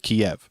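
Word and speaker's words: Kyiv: catch on to but everybody's calling it keeve now instead of kiev yeah i've noticed that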